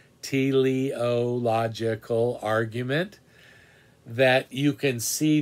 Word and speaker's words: teleological: call it the teliological it's spelled the way it sounds tiliological argument that you can